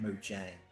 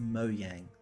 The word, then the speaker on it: Mojang: but people for years have been calling them mojang it's pronounced mojang it's pronounced moyang goddamn you're still live streaming i am